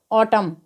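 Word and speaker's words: autumn: पर N silent होगा तो ए यू टी यू एम एन को हम क्या पढ़ेंगे ऑटम डी ए एम एन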